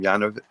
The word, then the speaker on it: Yanukovych: Yanovich? How did you say it? Yanukovych, I believe.